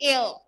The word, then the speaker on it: heir: okay the stunted unlucky air what is air h-e-i-r it is not here it is air air pronunciation like air air but this air is